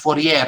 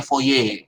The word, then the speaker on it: Fourier: Jadi ini bacanya bukan Fourier ya, bacanya Fourier kalau bahasa Prancisnya.